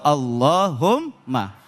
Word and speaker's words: Allahumma: Jadi enggak dibaca qulillahumma, tapi bacanya langsung Allahumma.